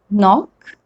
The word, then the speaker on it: knock: The spelling is K and N, but I'm pronouncing only N. So that's the rule. K is generally not pronounced when it comes before N at the beginning of a word.